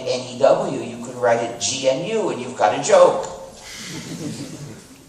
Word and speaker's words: GNU: but it still is gnu and it will always be gnu so please be careful not to pronounce it new don't say it as